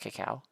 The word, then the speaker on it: cacao: Isn't it cacao?